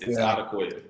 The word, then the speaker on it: Odukoya: It's Odukoya. Well, we've heard about 5,000 pronunciations of Tua's name since he was a freshman in college.